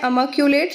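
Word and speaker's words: immaculate: Pronunciation होता है अमाकुलेट।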